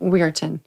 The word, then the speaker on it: Weirton: her hometown my childhood but how do you pronounce that we areton yes I think she's being kind to you